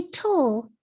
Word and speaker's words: turtle: the second syllable of turtle say tull real slow with me the vowel sound is actually a schwa you hear it between the consonant t and the l say it again